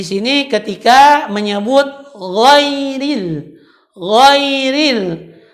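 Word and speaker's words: غير: ketika menyebut woi read Woi Rin banyak orang mendengar ketika orang menyebut huruf alay Ririn dia ganti the road tadi dengan huruf hold Dia membacanya Khoiril ini salah dan merubah makna tetapi yang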